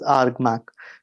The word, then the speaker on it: ARGMAC: So it's spelled like argammanac but you pronounce it as argmac.